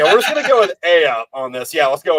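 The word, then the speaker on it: Aeaea: It's like, okay, so this is pronounced All right, yeah, we're just gonna go with Aya on this.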